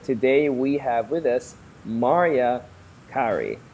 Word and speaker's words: Maria Kari: New Media and today we have with us Maria Ki not Mariah carry in case you're wondering um I always keep getting it wrong myself right did I pronounce it correctly no you got it right Maria Ki okay so Maria Ki not Mariah Cary and